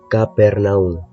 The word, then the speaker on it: Cafarnaúm: Vivía en un lugar llamado Cafarnaúm, que también se podría pronunciar como Capernaum, hasta que un día